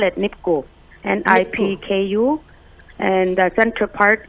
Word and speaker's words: nipku: Okay, so you have graciously sent me nipku and kitko.